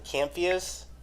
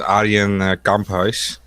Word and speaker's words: Arjen Kamphuis: Camphius. Is that how you say it? Got me on that one. I can say it in Dutch. How do you say his name? His name is Arjen Kamphuis.